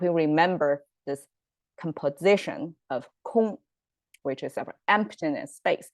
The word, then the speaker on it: 空: a goon and plus this cave symbol pronounced as kung i mean something space